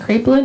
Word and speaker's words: Kraepelin: All right, next we have Nate Stockham from Stanford on the Project Kraepelin.